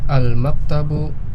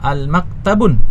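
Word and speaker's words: الْمَكْتَبُ: Allah ya Al maktabu kita lihat ada Alif lamnya sehingga kita tahu bahwa ini tidak boleh kita baca Al maktabun ya kita baca al-martabu maksurun Ya ini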